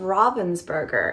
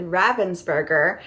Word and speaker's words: Ravensburger: to say it correctly I always said Ravensburger and I love you say Ravensburger which is the more American pronunciation but I say it more as the German pronunciation so it's actually Robins bger um and so I